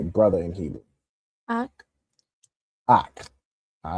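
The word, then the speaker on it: אָח: Ak.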